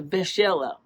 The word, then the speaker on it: B'ichela: It's actually pronounced closer to Michela.